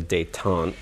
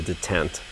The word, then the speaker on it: detent: a rod which um earlier I was calling a dayon which is apparently the the uh French pronunciation of a completely different word it's actually a detent um and basically it's